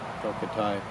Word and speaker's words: Tokitae: One of the children in one of the presentations asked the question about, doesn't the whale, Tokitae, is that how you pronounce the name? Yes. Tokitae, doesn't the killer whale belong to those people now as property?